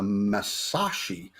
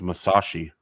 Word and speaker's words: Musashi: the i'm going to butcher this called the masashi um that weighed 73 000 or displaced 73 000 cubic tons of water um it's actually it's actually pronounced musashi that's what i said isn't it no you